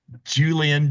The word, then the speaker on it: Julienne: Julienne, Like okay. like it's French, Julienne. Oh, because I know it's the E there, not the A, Yeah, so I just wanted to make sure I was exactly.